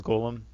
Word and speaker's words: golem: shattering blues damage against columns and other constructs it actually I know the word is golem but in this universe it's pronounced column which is supposedly an homage to Lord of the Rings I think it means